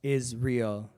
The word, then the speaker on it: IsReal: So as I said, my name's IsReal, pronounced IsReal, IsReal, because that's what I am.